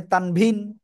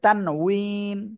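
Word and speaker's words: تنوين: ইনশাল্লাহ এখন তারপরে যাচ্ছি তানভুইন তানুইন আর বাংলায় উচ্চারণ অনেকে বলে তানবিন অনেকে বলে তানভীন অনেক কিছু বলে হ্যাঁ কিন্তু আসল উচ্চারণ হবে তানুইন ক্লিয়ার ওকে তানভীন কাকে বলে আসলে দুই জবর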